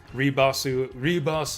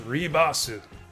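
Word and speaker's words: リバース: Ribasu, and reverse and rebirth are both pronounced the same in Japanese. It's Ribasu.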